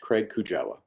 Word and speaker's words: Craig Kujawa: My name is spelled C-R-A-I-G. Last name is K-U-J-A-W-A, and it is pronounced Craig Kujawa.